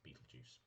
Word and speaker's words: Beetlejuice: bio Exorcist ghost named Beetlejuice pronounced beet juice I pronounced it that way anyway uh who is